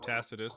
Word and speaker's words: Tacitus: So, what I'm going to do here is I'm going to pull up the oldest manuscript that we have of Tacitus. That's how you pronounce his name.